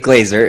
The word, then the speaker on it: Glaser: about you sure um Glazer is how you say my name uh thanks for having